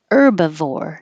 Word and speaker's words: herbivore: change your contract terms herbivore don't say the H just start with the ER bivore and herbs don't